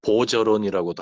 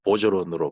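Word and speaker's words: Bergeron: 그 해리슨 뭐 보저론이라고도 하고 보거론이라고도 하는데 그 영화에서 발음을 보고 보저론으로 발음하는 걸 제가 확인을 했습니다.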